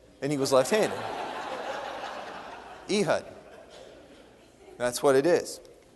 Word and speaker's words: Ehud: Some people say Ehud. It's wrong because it's Ehud because it rhymes with Judd, and he was left-handed. Ehud.